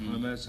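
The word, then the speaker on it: Hermès: One thing that inspired us was I did happen to, my wife is a big Hermes fan, or Hermes, how they pronounce it.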